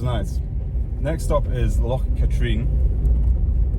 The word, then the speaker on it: Katrine: It's Loch Katrine, not Katrine.